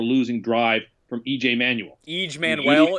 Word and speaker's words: EJ Manuel: drive from EJ Manuel each Manuel is how you pronounce his name and he's no good